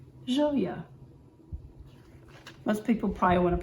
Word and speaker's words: Gioia: a new brand located in naples italy called zhouya most people probably want to pronounce it g-i-o-i-a geo yeah yeah if you watch the other joya video i went through a whole variation of